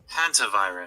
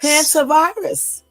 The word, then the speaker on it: Hantavirus: It's either Hunter or Hanta. Hold on. Let's see. Hantavirus. Oh, I said it right. Hey. You shut your ass up, Jermaine. I did say it right. Shut your ass up. Now listen. Wait. Hantavirus. Hantavirus. Okay, so I was right the first time.